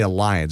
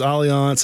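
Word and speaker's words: Allianz: I want to say want to say Alliance. That's Alian, the insurance company. Yes, it's Aliance.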